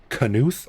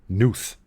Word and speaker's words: Knuth: last name was like Knuth or Nuth. That's right. Well, it looks like Nuth, but we do pronounce the K.